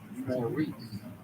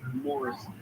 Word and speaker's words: Maurice: If you just look at it and you sound it out, no way should you end up with Maurice. Now, going back to Morris Gift, that is an interesting and unusual pronunciation of the M-A-U-R-I-C-E spelling.